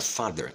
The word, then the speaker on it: father: presta atenção na palavra Father que é o pai toda vez que a letra e tiver antes da letra r a letra e vai ser neutra é automático tá bom